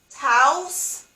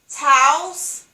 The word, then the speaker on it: Taos: me repeat it pueblo indians that's how you pronounce pueblo indians and tao uh the next one was taos taos taos t-a-o-s is taos pueblo p as in paul